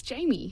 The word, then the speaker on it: Jami: Jami, am I pronouncing your name correctly? Yes, Jamie. Jamie, thank you.